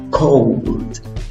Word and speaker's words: cold: Cold. Cold. No es con O, es con OW. O guión arriba. OW. Cold. Cold. ¿Ok? Es más larga que una O.